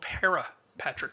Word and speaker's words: parapatric: cases which is called parapatric speciation be careful here of uh of pronunciation because we're going to talk about two different concepts parapatric p-a-r-a patrick speciation which means the origin